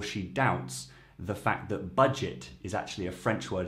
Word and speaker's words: budget: So budget, you don't pronounce the T in typical French fashion, but it's budget, avec un petit budget, I think she says.